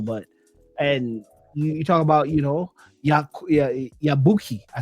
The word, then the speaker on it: Yabuki: Have you guys seen Masamichi Yakubi? Yakuki? Yeah, no, so Yabuki. I'm saying it wrong.